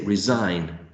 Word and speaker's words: resign: Which letter is not really pronounced when we say resign?